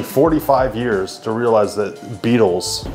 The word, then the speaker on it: Beatles: She's like, yeah, I just realized that it's spelled beetle, like the bug is spelled B-E-E. Like, yeah, I was like, and it hit me. Beatles, like a beat.